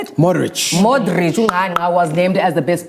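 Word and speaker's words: Modrić: Modric Was named as the best player of the World Cup when he received the Golden Ball Award.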